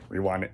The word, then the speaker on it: Rewind: Rewind here or if you prefer that. Um Rewind. Yes, that is how you pronounce my channel name.